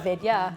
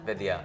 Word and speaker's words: Vidya: That is how I teach white people to say my name. Like it's video, but Vidya. Vidya. Yeah. But that won't give them to do like the DH sound, the Vidya.